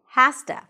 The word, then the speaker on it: has to: So to wrap it up, have to is pronounced as have to. Has to, has to.